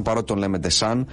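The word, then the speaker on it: Deschamps: τα πινελάτρια του Εμενίκη Ντεσάμπ, νομίζω ότι προφέρεται όντως ο Ντεσάμπ. Παρότι τον λέμε Ντεσάν, νομίζω ότι προφέρεται Ντεσάμπ στην πραγματικότητα, αλλά δεν έχει και σημασία.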